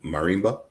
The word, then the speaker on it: marimba: Now, tell me if I'm pronouncing it correctly or not. Is marimba?